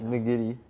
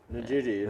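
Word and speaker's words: Ngidi: Najidi, It's isn't it? Nagidi.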